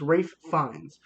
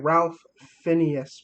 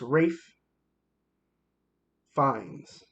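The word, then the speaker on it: Ralph Fiennes: It's Rafe Fiennes. It looks like Ralph Phineas, but it's not. It's Rafe Fiennes.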